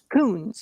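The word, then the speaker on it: Kunz: It's Kun Coons. Coons K U N Z.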